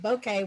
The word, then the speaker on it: bokeh: it's not bokeh. It's bokeh. Bokeh, bokeh. Okay, bokeh. Well, actually, in our practice leading up to this, that's the thing I asked Dennis to sort out was, how do you say this damn word? And It's like Martin, Ed. and Martin Bokeh. went out and found one on the internet where you could play it back how to say it, and it's like a bouquet of flowers.